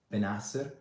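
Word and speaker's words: Bennacer: I'm like, what's the right pronunciation? So the right pronunciation is like Benasser, something like this, I guess.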